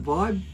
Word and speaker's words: vib: once again the semi-hards vib some people pronounce it vibe but it's spelt v-i-b okay now he's got